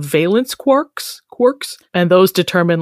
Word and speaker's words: quark: it should be pronounced quarks rhyming with Parks but it is in fact pronounced quarks rhyming with pork I am sorry what